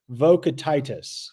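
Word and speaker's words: Vokietaitis: Uh, I looked up a Lithuanian pronunciation guide and it is uh, this is what I found. Mat uh, Matus Vocatitis. Vocantitus.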